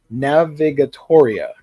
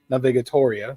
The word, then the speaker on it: Navigatoria: I'm pronouncing this correctly Navigator like navigate and Historia mixed together this is by Waka